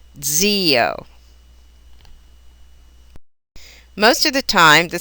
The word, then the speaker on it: zio: A single Z that begins a word may be given a TS or a DZ sound, as in zio or zio.